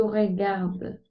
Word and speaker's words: regarde: Ok, Andrea, tu regardais ou tu regardes? J'ai regardé la vacante. Ah, ok. ¿Lo dije mal, Miss? ¿O? Oui. Alors, Andrea, acuérdate que si la E final no tiene acento, ¿qué pasa? Ay, no se dice.